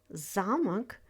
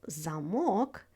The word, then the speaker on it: замок: For example, замок means castle, while замок means a lock.